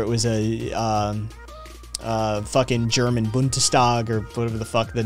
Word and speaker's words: Bundestag: Even perfectly pronounced Bundestag.